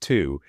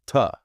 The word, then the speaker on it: to: Native speakers use something called the schwa. It's this neutral, relaxed vowel sound. In this phrase, the word to isn't pronounced to. It reduces to ta.